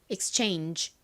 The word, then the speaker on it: exchange: 실제 미국식 원어 발음으로는 끝에 g 부분을 약하게 바람 빠지듯이 발음하여 exchange exchange 이렇게 발음이 됩니다 따라해 보세요 exchange exchange